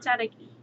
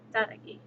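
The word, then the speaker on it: Tsalagi: Um, if you want to know how to pronounce Cherokee in the Cherokee language is taki. It's t s i l a gi. Tagi.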